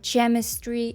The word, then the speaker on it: chemistry: мені heage CH characterter chemistry і так далі це все неправильно Звісно ж це все помилки тому що в таких словах Ось ця H випадає і ми просто читаємо попередню літеру а саме к і тому буде headaake